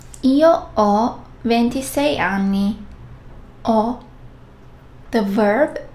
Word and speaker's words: ho: And yes, H, H is silent. Io, ho, tu, hai, lui, lei, ha, noi abbiamo, voi avete, loro hanno.